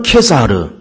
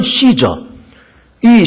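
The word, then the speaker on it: Caesar: 질문이 아주 묘한 질문입니다 가이사가 누군가 가사라고 하는 인물은 사실은 로마 황제를 보통 가사 가사 이렇게 말하는데 사실 이것은 일반명사가 아니고 사실은 명사입니다 가이사 어 원문으로 발음한다 그러면 케사르 영어식으로 발음한다 그러면 시저이 시저 하는 로마 황제를 시저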